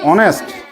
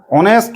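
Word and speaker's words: honest: আর অনেস্ট বল অনেস্ট। অনেস্ট মানে কেউ জানো? সৎ অনেস্ট ম্যান। এইখানে এইচ থাকলেও এইচটার উচ্চারণ হয় না।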